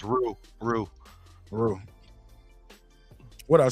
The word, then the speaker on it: roux: Rocks with crab, shrimp, crab legs, clam, crawfish. I never ate crawfish in my life. I think it's pronounced roux.